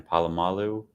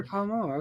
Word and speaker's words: Polamalu: Palomalu. Properly? Oh, Troy Polamalu.